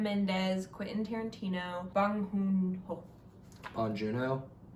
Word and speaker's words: Bong Joon-ho: Bong Joon-ho? Bong Joon-ho. I'm just trying to pronounce it the way he would.